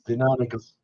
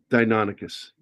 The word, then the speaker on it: Deinonychus: Well, being pedantic at all, the correct word is Deinonychus because it's Latin and the Y doesn't sound like in English.